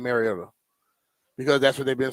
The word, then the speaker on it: Mariota: Um, I think it's been said over the years like Mariota. Um, which is incorrect and it's pronounced Mariota.